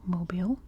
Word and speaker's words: Mobile: of mobile down here and yes it is pronounced mobile and there's also some really cool Islands down